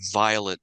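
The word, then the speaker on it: Vilate: in the LDS World Violet's name is spelled v i l a te it's clearly Violet because they were from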